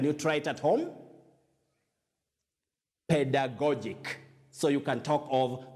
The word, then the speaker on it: pedagogic: first one takes the sound so you say pedagogic this adjective is pronounced pedagogic can you try it at home pedagogic so you can talk of pedagogic scales if